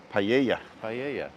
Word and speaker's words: paella: say paella in Spanish the L is a y the Double L is away paella to pronounce Spanish you